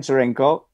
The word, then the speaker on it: Tscherenkow: what that is so folks it's difficult to pronounce so it's easier to follow the link okay and my last name so jurenko with t-s-c-h-e-r-e-n-k-o-w and i prefer i like what